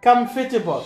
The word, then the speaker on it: comfortable: Second one, a lot of people pronounce it comfortable. Comfortable. So actually, hey, good evening. Hi, teacher. Please give me one minute. So, for the word comfortable, it's not comfortable. We say comfortable.